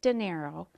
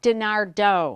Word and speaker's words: DeNardo: the corner and Denise dinero who is a garden a gardening expert she has a company four P's yard care Denise I'm sorry I just said your name wrong correct denista dinardo yes my apology that's